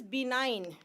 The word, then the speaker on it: benign: It is benign.